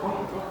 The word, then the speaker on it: Hunter: Hunter, se escribe Hunter, pero Hunter.